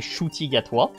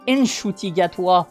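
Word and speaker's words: Ncuti Gatwa: jusqu'à mes 18 ans je croyais que mon prénom se prononcer shotig à toi et c'est comme ça que je le prononce depuis le début sauf qu'un jour ma mère au téléphone elle m'a dit mais qu'est-ce que tu dis tu t'appelles n shotig à toi bah shoutig à toi le N il se prononce il existe génial c'est incroyable comme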